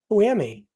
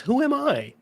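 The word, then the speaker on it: whoami: also look who Am who pronounces it that way it's who am I no no because who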